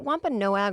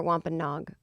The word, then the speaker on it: Wampanoag: of the wampanoag nation is it wampanoag or wampanog i think it's no egg i think it is too it's spelled no egg yeah but you never know what those spellings they go they do the full syllables they do that okay yeah no silent o's for the indian nation